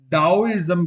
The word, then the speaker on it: Taoism: चलिए बात करते हैं टाइजम की टाइजम जिसे डाओ इजम भी कहा जाता है द डी ए ओ मैंने जिसका उच्चारण किया ना टा डा डाम भी कहा